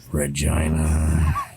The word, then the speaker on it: Regina: And or the one that I really liked was, "There are 3 towns in Saskatchewan that rhyme with vagina. Medina, Regina, and Runt."